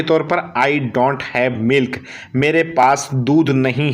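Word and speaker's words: ملح: अगर आपको कहना पड़ जाए तो अरबिक भाषा में आप बोलेंगे माँ हिंदी मील, माँ हिंदी मील। और मील बोलते हैं नमक को, MILH आप लगा सकते हो, लेकिन H साइलेंट रहेगा।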